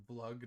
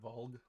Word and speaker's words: Vlug: It's Vlug, not Volg.